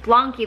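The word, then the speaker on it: BLANQI: into it and blany I've figured out how to say it's like saying donkey but with a B blany this company b l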